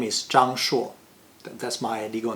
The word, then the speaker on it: Shuo: Of course, here in Australia, I'm not Zhang Shuo anymore. I'm Shuo Zhang. See, I even changed the pronunciation because my given name spells S-H-U-O. So Shuo makes more sense in English.